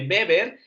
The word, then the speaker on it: Weber: tan bien hecho pero en el caso de beber es max beber porque él es alemán no es inglés entonces su apellido se pronuncia beber por si lo vuelves